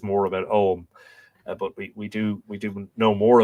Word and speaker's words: Ogham: earth there is an Ogham, Ogom, but it is generally pronounced Om.